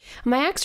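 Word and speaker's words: Miyax: Miax? How do you want to say her name? Mayax? Mayax? Or Mayax. Yeah, I looked it up. Mayax rebels against a home situation she finds intolerable.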